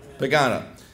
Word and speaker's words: Pagano: Has there ever been an investigation of the contracts let during the Phil Pacino? How do you pronounce that last name? Pagano.